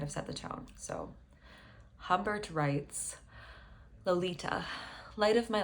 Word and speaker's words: Humbert: If we are to read Humbert's name, if we pronounce it the French way, which you would, considering that the character is from a French-speaking country. He's an immigrant in the US. It's, I don't want to butcher this, Humbert, which sounds like the word ombre for shadow.